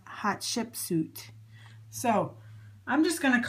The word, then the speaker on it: Hatshepsut: it is print pronounced it's pronounced um hot ship suit hot ship suit that's how it's pronounced hot ship suit so I'm just going